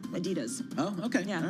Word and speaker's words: Adidas: Is it Adidas or Adidas, depending on how you pronounce it? Yep. I go with Run DMC's pronunciation, Adidas.